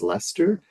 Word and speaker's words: Leicester: Uh so it's Svena Betka from the university and I think it's pronounced Lester um which I will credit Dton Abby for having uh taught me to say it that way.